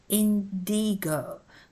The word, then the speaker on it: Indigo: short and sharp and it's Indigo the emphasis is on the middle syllable with the i igloo ice mice nice